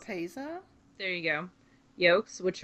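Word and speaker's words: lopapeysa: And then the more I'm gonna mispronounce. Lopapeza?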